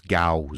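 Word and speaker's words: Gyaos: En anglais, il prononce Gauss.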